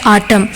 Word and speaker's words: autumn: تو آٹم پہلا ورڈ ہے آٹم، اس کے اسپیلنگ کیا ہے AUTUMN، لیکن آخری این جو ہے وہ سائلنٹ ہے، وہ پڑھا نہیں جائے گا، تو یہ لفظ ہے آٹم.